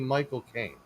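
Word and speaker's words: Michael Caine: And the way that you do the correct pronunciation is if you say the word cocaine, but it belongs to you.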